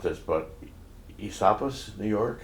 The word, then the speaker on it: Esopus: I'm going to mispronounce this, but Esopus, New York? Esopus.